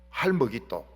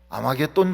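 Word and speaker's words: הר מגידו: 그래서 할머깃도 전쟁. 할머깃도 전쟁은 뭔가 하면 이스라엘이 다 죽느냐 아니면 사느냐, 이걸 결정하는 전쟁이 할머깃도 전쟁인 것입니다. 이게 이제 요한계시록에 가면 발음이 조금 부드러워져서 아마겟돈 전쟁 이렇게 나오는데, 이 아마겟돈 전쟁이라는 것이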